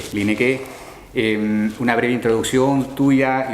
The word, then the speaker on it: Lieneke: Así se pronuncia, Linek. Linek.